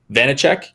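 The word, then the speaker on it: Vaněček: 3.3 for the penguins vedic venisec i want to say is that how you say it uh it's not bad vanicek okay yeah that makes sense um you almost got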